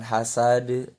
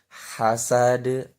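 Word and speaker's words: حسد: used were used kemudian pelafalan huruf h i Dah hazards itu mesti hak menggunakan hak kecil bukan hal sade bukan hazards tetapi hasard dilatih supaya pelafalannya trasak huruf hanya itu terasa lembut kemudian suara hanya itu ada seperti bunyi angin yang keluar dari tenggorokan wamil Sherly Hai Sidin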